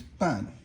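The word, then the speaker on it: 办: Okay, then the next one is ban. Ban means is fourth tone and it means to manage something.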